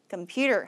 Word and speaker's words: computer: 영어라고 인지가 되려면 이음절에다 강세를 줘야 됩니다. 어떻게 하시면 될까요? computer 하시면 되겠죠.